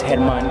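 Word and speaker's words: Germán: know uh this guy German yeah that's his name in Spanish it's headman because you know the way we pronounce our letters right but um she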